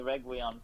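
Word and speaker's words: Reguilón: I always say Reguilon because obviously, Spanish, usually the two L's is kind of like especially with like an I or a U or something.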